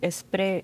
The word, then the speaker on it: Spree: Vielleicht hattest du bei der Aussprache allerdings Schwierigkeiten. Wir schlendern die Spree entlang. Wir schlendern die Spree entlang. Schlendern hast du aber richtig ausgesprochen, ja. Genau, und Spree falsch.